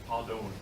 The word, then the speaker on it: Hadon: Long O. Hadon.